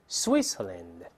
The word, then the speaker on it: Switzerland: 再来一遍，Switzerland，在单词中间发 c，这个声音确实不是特别常见。